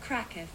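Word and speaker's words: Kraków: like I'm Bing that some people say crack off cracker cracker cracker crack oh they do say it like that with a rolling R can't do that unfortunately just so you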